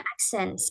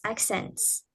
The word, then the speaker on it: accent: Nah, ini bacanya accens. Acens ya.